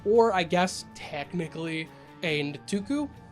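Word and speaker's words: Nktuku: I guess technically a Ntuku. I hate pronouncing that word. I want to say Nkutu, it's Nick Tuku.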